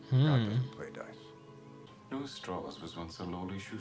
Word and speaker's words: Strauss: It's pronounced Strauss. Strauss?